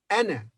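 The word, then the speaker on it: أنا: first and the last the first is pronounced as a in apple ah anna whereas the second the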